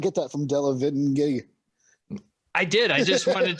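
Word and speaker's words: Delevingne: the witch oh uh karen devline yeah i butchered the model let me try to say it devil line carry devil line devil line how did you not get that from della vin i did i just wanted to hear more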